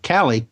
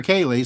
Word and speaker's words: Cali: Well, I mean, we have Metaphysician Cali. Am I pronouncing that right? Yes, you Cali? are. All right. Well, it's a coin toss between Cali or Kaylee. So it's Cali.